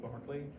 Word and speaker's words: Berkeley: Spelled like Berkeley, pronounced like Berkeley.